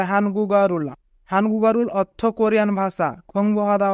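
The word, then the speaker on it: 한국어를: যদি বাচ্চিমের পরে ইয়ং থাকে তবে ইয়ং এর স্থানে বাচ্চিমটি যাবে, তাই গিয়ক বাচ্চিমটি ইয়ং এর স্থানে যাবে এবং উচ্চারণ হবে হানগুগারুল।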